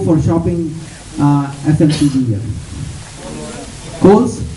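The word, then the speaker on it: Coles: shopping uh fmcv here coals how do you spell it c o l e s it's like coals on the internet am I right right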